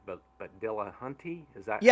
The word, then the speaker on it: Dillahunty: Um but being respective of the time here, I wanted to ask um and forgive me if I'm mispronouncing Matt's last name right, but but Dillahunty, is that how you say his name?